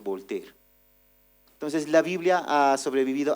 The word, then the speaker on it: Voltaire: Este personaje que aparece ahí es Voltaire se escribea, pero es Volter.